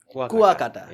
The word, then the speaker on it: Kuakata: I always mispronounce the name. Kuakata? Kuakata.